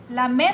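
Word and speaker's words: lamé: de esta tela laame la me según Lily verdad según Lily me dijo que era la me con acento en la e pero miren Qué bello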